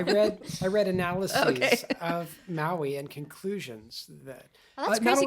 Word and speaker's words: Maui: going to talk about maui and uh it's probably pronounced with uh three syllables maui he was a demigod and